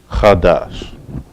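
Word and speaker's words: חדש: Or it's two syllables and it's pronounced chadash.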